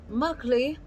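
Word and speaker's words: مقلي: prito it is called mugli mugly some people pronounce it muggly mugly they are the same it's brito so fish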